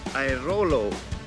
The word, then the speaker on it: Airolo: How do you pronounce it? Airolo.